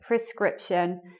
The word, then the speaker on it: prescription: schwa but anyway the the stress is meant to be on the second syllable in those words it should be like prescription and prerogative prescription is when you